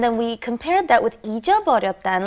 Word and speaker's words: 잊어버렸다: We had 잃어버렸다, and then we compared that with 잊어버렸다. And like I said, they are interchangeable at certain situations, but you want to make it very clear when you pronounce it. It's very hard to say.